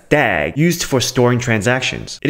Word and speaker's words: DAG: of iota it's a directed acyclic graph which you can pronounce as dag used for storing transactions